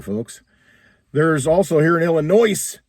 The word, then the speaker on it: Illinois: There's also here in Illinois, Illinois, the S is silent.